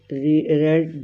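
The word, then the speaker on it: read: अब ये होगा a book is रेड बाय मी। अब ये जो स्पेलिंग रीड वाले आएंगे लेकिन जब आप इसको पढ़ेंगे तो रेड आएगा।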